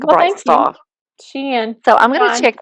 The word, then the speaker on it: Shein: Some people say it Shein. Some people say it Sheen. Some people say it Shine. I say Shein. That's how I pronounce it, so that's probably incorrect.